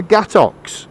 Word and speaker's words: gâteau: We do not pronounce it gâteaux. With the ox is French is so this cake is called gâteau.